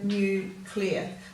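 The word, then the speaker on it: nuclear: unit of measure now just be careful the way you say this you should have therm o new clear so that is one word one syllable at the end there now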